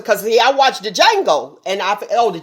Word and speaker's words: Django: yeah i watched the django and i oh the j the d is silent let me get that right i watch django and seeing that that